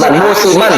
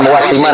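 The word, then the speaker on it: موسما: Fataqdimul maulid wattikhadhu muwassiman tastaj'aluhu ba'dun nas Musiman, bukan muwasiman. Salah bacanya itu.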